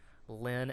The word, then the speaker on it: ln: or the natural logarithm sometimes people pronounce this Len X um natural logarithm of